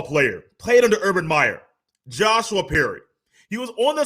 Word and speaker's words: Joshua: i want to say josh i like one syllable or shorter uh names but he does go by joshua and i believe in his twitter bio it he does say it's joshua not josh joshua perry is up